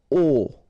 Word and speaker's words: aux: Okay, so you can see that here you combine a plus les, and you will get this AUX, okay? And then phonetically you produce it or you pronounce it O.